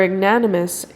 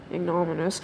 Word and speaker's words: ignominious: And so, within 5 minutes of their invasion, they were ignanimous tr- ignaniminious I said it right. Ignominious? Ignominious retreat by the same way as they had